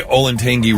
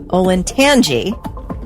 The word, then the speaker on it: Olentangy: Well, it's got to be the Olentangy River. No. Close. Olentangy. Tangy. Yes. Olentangy. Olentangy River. Okay. Not tangy.